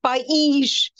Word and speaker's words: país: It's different from país. When there is an accent on the I, the word is país. País is country.